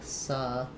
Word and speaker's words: celebrities: So we have the leb syllable is stressed, meaning that my first syllable is going to have that reduced schwa vowel. Letter C says the s sound. So celebrities. Final S has a Z sound here. This is going to be a flap, so it's going to sound like celebrities.